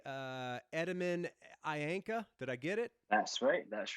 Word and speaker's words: Etemen Ænka: new dune record i'm assuming i'm going to pronounce this correctly uh edmund ayanka did i get it that's right that's right